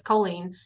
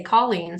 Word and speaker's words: Colleen: that stuck but like if I'm talking to my mom or my sisters or anyone that says colen and I say my name it's colen but then I notice when I introduce myself I say Colleen so I don't know